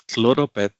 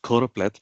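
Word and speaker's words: choropleth: So coroplith it comes from Greek chorus is area or region and plethos is a multitude. So quite often many of us end up pronouncing this as chloropath instead of coroplith.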